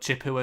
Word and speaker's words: Chippewa: But Chippewa is the pronunciation.